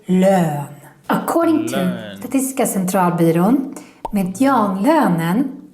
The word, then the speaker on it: lön: And don't mix this up with lån. That means loan. So here the pronunciation is very important. If you want to say salary, then you need to say lön.